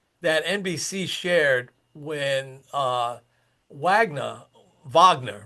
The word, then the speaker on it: Wagner: And one might say, so there was a stat that NBC shared when Wagner, Wagner, right, is a proper way to say it,